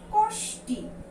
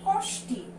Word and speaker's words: কষ্টি: তারপরে কি দেয়া আছে এখানে, কষ্টি। আমাদের যদি বানান যা দেয়া আছে তাই যদি উচ্চারণ করি সেটা কি হয়, কষ্টি। কিন্তু আমরা এটা কি উচ্চারণ করি, আমরা কিন্তু এটা উচ্চারণ করি কোষ্টি।